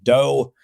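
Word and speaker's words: DoH: So DNS over TLS we call DOT, DNS over HTTPS we call DOE, like what Homer Simpson says.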